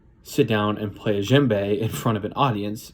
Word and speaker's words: djembe: problem you have the djembe the D is silent which is a a